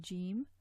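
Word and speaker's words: جيم: see in this diagram, raising the tongue against the hard palate produces Jim. Okay, so Aj is a strong letter, Aj, Aj, and it has a very definite articulation point here.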